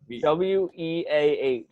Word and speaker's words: Weah: I'm trying to figure out how you pronounce his name. Just a Weah.